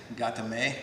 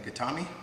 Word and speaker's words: gatame: hold and you might hear that i say gatame rather than katami right katami is something you hear quite often